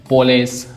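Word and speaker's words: police: Next I को ई भी पढ़ती हैं, long sound, machine, पोलिस, magazine.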